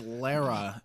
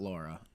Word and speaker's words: Lara: Because Lara deserves it. It's not Laura. It's Lara. I think just the British people say that, maybe, because it's spelled Laura, isn't it?